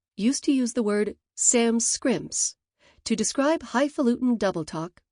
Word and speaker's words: Sanskrit: Walt Kelly's pogo used to use the word Sam scrimps to describe highulutin double talk or manipulative twaddle. Many Euroamericans mispronounce it sanscript implying that it is a language without sans an intelligible script or sand script with overtones of ruined